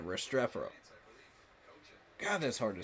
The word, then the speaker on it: Restrepo: So that's how you say his name, Restrepo.